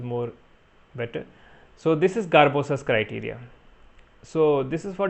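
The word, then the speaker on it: Sgarbossa: last topic garbosa criterias we call it garbosa s is silent so there is elevation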